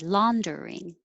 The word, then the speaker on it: laundering: laundering one two three laundering seventeen it looks like three syllables but we make it shorter and make it two syllables general general 18 calamity